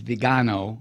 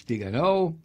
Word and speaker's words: Viganò: I know it's pronounced by the TV dumbfucks as Viganò. It's not. It's Viganò.